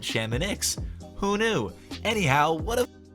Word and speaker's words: Chamonix: In French, that would be pronounced Chamonix. But, and bear with me here, the people who actually live in this place, the locals, they call it Chamonix.